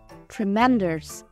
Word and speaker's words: tremendous: âm tiết thứ nhất tremendous trọng âm ra vào âm tiết thứ hai numerous âm tiết thứ